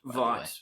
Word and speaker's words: Vought: Vote International. Corporation it's actually pronounced Vought. Vought, whatever.